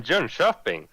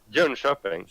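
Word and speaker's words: Jönköping: My Swedish accent would say Jonkoping. So. But it's weird that you say sh instead of k.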